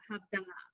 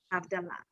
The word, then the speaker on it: Havdalah: All right, but I shouldn't say the word wrong, but it's Havdalah. That's a correct word, Havdalah.